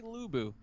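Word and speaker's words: Lu Bu: was gonna say yeah the x is silent but it was meant to be silent but everyone calls me lux buu it should be lubu but yeah um playing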